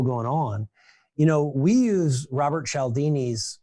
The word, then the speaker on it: Cialdini: State University when I got my MBA, Robert Sinaldi. Oh, Cialdini? Yeah. How do you say his name? Cialdini.